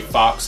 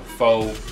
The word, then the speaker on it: faux: and they said by the way I say fox fa a ux that's how I pronounce it he said it's pronounced fa so now I know faux carbon fiber thank you I appreciate it Matt